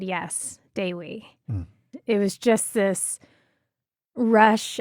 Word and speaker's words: Dewi: And I think I even mispronounced it when I first saw the name because with my American brain, I was like, oh, Dewey. And then I had to go to some Dutch name pronunciation website, which is funny, to understand that the Indonesian E sounds like an A.